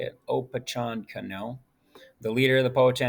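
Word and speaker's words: Opechancanough: cano this is how you say his name oppachon cano i'll say it oppachan cano the leader of the poet nation attacked jamestown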